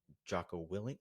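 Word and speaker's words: Jocko Willink: Joo guy like I believe joo's coming out Joo willink Y is that how you say it yep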